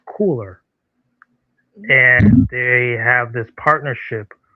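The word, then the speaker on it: KULR: out of Webster, Texas, called KU LR, which is pronounced cooler.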